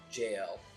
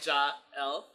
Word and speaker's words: Jael: anything else but now looking up the spelling it's built J a yeah so jail which I thought like child sounds a little bit more like child like literally how it's spelled jah-el like a little yeah